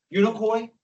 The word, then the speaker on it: Unicoi: Unicoi? Yeah, you got it. Koi fish.